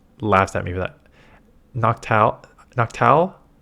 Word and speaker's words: Noctowl: Noctowl? I don't think you pronounce a W.